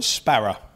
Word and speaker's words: Sparrer: Is it still pronounced COCK SPARRER? SPERRA. SPERRA. SPERRA. SPERRA. That's it.